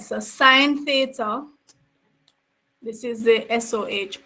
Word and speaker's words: sin: So we use SIN for sine. It's not pronounced sin. It's sine.